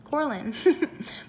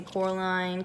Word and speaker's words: Corlin: So they always say Coraline, Caroline, Carolyn, Coraline, all the other names but mine.